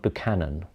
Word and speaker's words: Buchan: And I say John Buchan, I'm not entirely sure if that's how it's pronounced, but it's like the first half of Buchanan, so I'm saying Buchan makes sense to me.